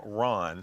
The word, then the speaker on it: ron: The R-H-U-M, rum, is how you say it in French, and Okay. then Ron, R-O-N, is how you say it in Spanish.